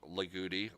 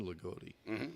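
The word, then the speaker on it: Loogootee: also a station in Lagodi. So, but that's the way most of the people in that area pronounce it, as Lagodi. Yeah. Right. That's how it was introduced to me, was Lagodi.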